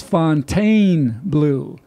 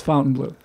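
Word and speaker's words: Fontainebleau: yelling at us again saying it's Fontaine Blue Fontaine Blue okay no it's not nobody calls it that it's spelled that way nobody says Fontaine Blue it's Fountain Blue okay so the rest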